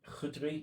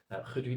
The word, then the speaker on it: Khudri: Khudri, you don't pronounce the K. Khudri dates.